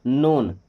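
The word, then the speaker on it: known: नोन। देखिए यहां पे के साइलेंट है।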